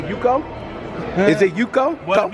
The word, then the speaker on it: Uko: I tell people Uko. Uko. All right. Because over the years, that was the more common pronunciation. Alright, okay. So now my family pronounces it a different way. That's what I was gonna ask. So what's the other pronunciation? It's Uku.